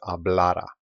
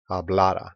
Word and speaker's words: hablara: So the yo form is hablara. Hablara. Now there's no accent mark on it, and the stress is on this letter A, the middle A.